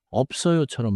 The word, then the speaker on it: 없어요: Fourth, 없어요는 입술을 닫고 없어요처럼 말해요. In English, keep the lip stop before the strong sound.